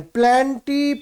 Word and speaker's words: Plantae: और then प्लेंटी, PLANTAE, प्लेंटी, और animal या एनिमेलिया, ये लास्ट किंगडम है इस क्लासिफिकेशन का।